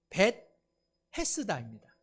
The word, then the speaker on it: 베데스다: 예수님께서는 예루살렘의 양문, 양이 지나가는 문 가까이에 베데스다라고 하는 연못을 찾아가셨습니다. 베데스다, 이것을 좀 더 분리해서 발음하자면 벳헤스다입니다. 그냥 연음으로 하면 베데스다, 실제로는 벳헤스다라고 하는 두 낱말이 복합되어 있는 단어인데요, 벳이라고 하는 것은 집이라는